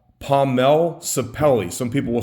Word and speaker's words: sapele: What this is called, and people pronounce it different ways, okay? It is called Pomelle Sapele.